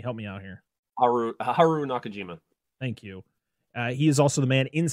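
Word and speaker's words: Haruo Nakajima: inside the Rodan costume suit uh Haru can pronounce his name for me help me out here Haru Haru Nakajima thank you he is also the man inside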